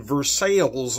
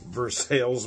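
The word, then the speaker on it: Versailles: is from a bees knees Brewing though in verses Missouri yes I know I am pronouncing it right that's how they pronounce it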